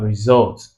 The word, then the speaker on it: result: So you have always, you have result, two syllabic words. Results, results. So it's results that have the stress on the second syllable.